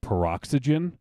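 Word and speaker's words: Peroxy?gen: it's it's the name the way you say it is peroxygen but it's spelled perox why question mark Jen the Y is spelled out it should be peroxygen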